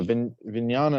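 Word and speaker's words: vijñāna: Vignyana is like consciousness or awareness or discernment.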